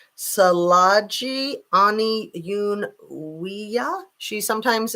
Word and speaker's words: Tsalagi: I think that it's Salaji, that the T is silent, just like in tsunami.